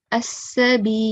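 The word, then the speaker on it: السبيلا: I will drop the alif out of the pronunciation. Okay, I will treat it as a excessive alif. Okay, as-sabila.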